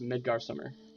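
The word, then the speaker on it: Midgardsormr: out of it um and his name is pronounced midgar summer because you know dragons and their names we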